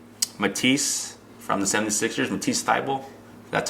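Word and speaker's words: Thybulle: mcgee's blog um matisse from the 76ers and t style that's how you pronounce it and then the other guy is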